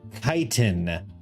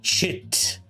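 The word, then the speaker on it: chitin: They're made of kitan. And so this would be a kitenous grasping. Shame on the people who say chit.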